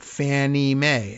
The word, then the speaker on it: Fannie Mae: That accounts for the weird pronunciation. Fannie Mae, FNMA. Federal National Mortgage Association.